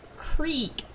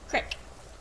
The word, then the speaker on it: creek: Instead of creek, it's crick. This is a crick.